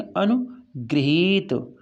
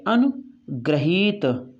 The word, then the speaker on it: अनुगृहीत: ऋ की मात्रा, तो इसको बोलेंगे अनुगृहीत, अनुगृहीत। और ये जो है रा, ये दूसरा वाला लिखा हुआ है, ये अनुग्रहीत, ग्रहीत। ठीक, इसको बोलेंगे गृहीत, गृहीत। तो शुद्ध है ऊपर लिखा हुआ ये वाला, अनुगृहीत।